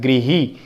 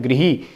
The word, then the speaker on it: गृह: ये ग्रह होता है और ये क्या, इसका शुद्ध उच्चारण क्या होता है? गृही। तो री, गृही, ये गृही, ग्रह जो ग्रह होते हैं पिंड, और ये गृही घर के लिए आता है, तो इसका शुद्ध उच्चारण होता है गृही। ग्रह नहीं होता, क्या होता है इसका शुद्ध उच्चारण?